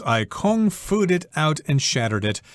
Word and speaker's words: kung fu: And she says, I kung-fu'd it out and shattered it. Kung fu, of course, refers to gong fu, which is a martial art. And in English, it's often pronounced as kung fu.